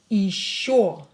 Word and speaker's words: еще: Yo is always stressed. So, еще. This year will be pronounced as E because it's not stressed.